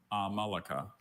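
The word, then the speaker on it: amalaka: Are there any alternate pronunciations? There's just the one. Amalika.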